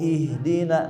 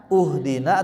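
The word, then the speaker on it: اهدنا: Tapi kalau memulai di sini apa bacanya? Ahina. Uhdina atau ihdina. Ihdina. Ihdina. Kenapa? Ha huruf ketiganya kasrah ya.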